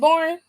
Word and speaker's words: Borne: is that his last name borne is it borne yeah I said it right I said it